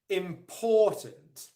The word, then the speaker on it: important: let me say this the primary stress the main stress in the word is on the second syllable important important important okay so